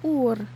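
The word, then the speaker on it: Uğur: But if you pronounce it in the Turkish way, it's just Ur.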